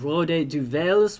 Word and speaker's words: Rode Duivels: Les Diables Rouges, which is the French pronunciation, and Rode Duivels, which is the Flemish pronunciation.